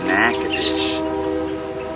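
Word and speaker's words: Natchitoches: Check out how this is spelled. How do you get Nack-O-Dish? Nack-O-Dish out of that.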